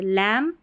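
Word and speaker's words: lamb: एमबी जो है देखिए आखिर में एमबी ऐसे आएगा और इसको म पढ़ेंगे क्योंकि बी साइलेंट है। लैम कॉम थंब क्लाइम ऐसे बी का उच्चारण नहीं होगा।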